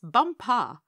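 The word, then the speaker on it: Bumpah: there as the crown princess bumper you accent the last syllable and tell me did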